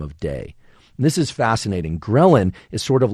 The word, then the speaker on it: ghrelin: you get hungry at all and it's called ghrelin it's spelled g-h-r-e-l-i-n relin is released actually from the GI tract and